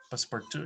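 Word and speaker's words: Passepartout: is uh team passport passport two is french i think this is the way it is pronounced jinpa passport two password 2.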